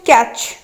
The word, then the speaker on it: catch: वाक वाक आमर साइलेंट रोचे कोटा L रोचे साइलेंट आम पढ़ी ताले ऑप्शन C हो करेक्ट आंसर। सेकेंड अच्छी कैच CATCH कैच option A रे अच्छी C ऑप्शन